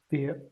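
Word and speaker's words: Bier: Beer. Beer. Beer. Beer. Beer. Beer. Beer. Beer. Beer. Just Beer. like in Beer. English. Just like in English.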